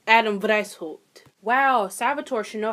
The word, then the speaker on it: Adam Weishaupt: Adam White. Oh, Lord. Is that German? Wow, it is German. Wow, I should probably fucking know that. So, the founder was actually Adam Weishaupt.